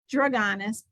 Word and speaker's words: Drugonis: So I say Drugonis.